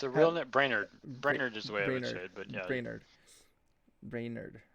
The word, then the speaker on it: Brainard: how you say it reynard it's a real brainerd brainerd but yeah brainerd brainerd has said they